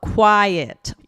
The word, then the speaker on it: quiet: So, I heard two syllables, right? Mhm. Um, quiet.